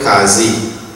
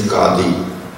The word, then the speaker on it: Qadi: Our panchayat will be headed by in Trinidad they call it Qazi. The correct pronunciation is Qadi.